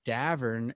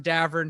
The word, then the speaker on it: Davern: we get it it's Davern it rhymes with Tavern rhymes with Tavern uh my mom doesn't